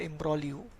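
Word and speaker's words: imbroglio: Complicated situation is called एम्ब्रोलियो। Ji silent है यहां पर।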